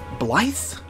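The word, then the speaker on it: Blaidd: name instantly forget it blyth like it's it's okay so it's it's it's pronounced so much differently than it's spelled and he's looking for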